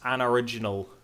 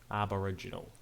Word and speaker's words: Aboriginal: It's pronounced Anoriginal. Anoriginal Australian. Aberdenian. There we go. That's what we'll call it. Aboriginal.